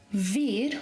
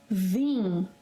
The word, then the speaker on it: vim: Eu não vim, nasal, eu não vi, não.